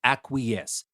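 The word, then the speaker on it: acquiesce: u i e c e and it is pronounced acques so it's the same context I just told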